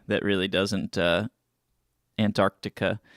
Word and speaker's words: Antarctica: You missed you only missed a C that really doesn't uh Antarctica. It's really hard to pronounce the C even in, you know, English. Antarctica. You say it like really really subtly.